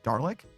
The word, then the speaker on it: Dalek: Dalek?